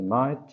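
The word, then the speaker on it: Maât: On n'a pas le symbole de Ma'et, mais on pense qu'elle tient dans sa main la plume, qui est prononcé Ma'et.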